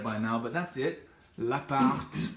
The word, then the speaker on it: L'Appart: L'appart, pronounce the T, as David mentioned in the podcast episode recently.